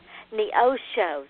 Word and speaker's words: Neosho: Indian name but it's NEOS show Neo show see ladies and gentlemen I don't I massacred it I am so sorry Neosho but and it's pronounced almost like it's spelled it is actually it's